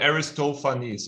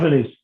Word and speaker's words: Aristophanes: It's called Aristophanes, okay? That's the correct pronunciation. Aristophanes.